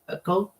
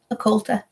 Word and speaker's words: occulta: But Hank Williams Sr., I did not know that he had the spina bifida occult. How do you say that? Occulta.